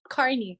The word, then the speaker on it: Carney: How did you pronounce the name again, real quick, Brandon? Lessard? No, your character's name. Oh, Carney. It's Carney.